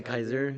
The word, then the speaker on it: Caesar: And he's the one that taught them how to pronounce it or he's the one that like went straight to say Kaiser.